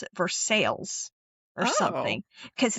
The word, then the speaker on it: Versailles: It's not Versailles like France. I think they pronounce it Versailles or something because it's different but it's Oh yeah.